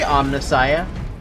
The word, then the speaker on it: Omnissiah: Who's the Omnissiah?